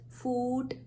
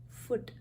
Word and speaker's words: foot: dominant book look foot do we say it as food no it's foot so book look and